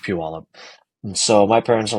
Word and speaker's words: Puyallup: And it, to me, looked like a town called Puyallup. Cool. But Y'all little did up. I know that it was actually pronounced Puyallup.